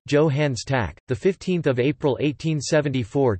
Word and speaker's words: Johannes Stark: Johannes Stark, German pronunciation, Johannes Tack, the 15th of April 1874 to the 21st of June 1957, was a German physicist and physics Nobel Prize laureate.